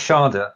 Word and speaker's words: schade: Das ist schade.